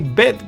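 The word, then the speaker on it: ב: The bet is pronounced as b, boy sound, b sound. Whereas without the dot, it is pronounced v sound.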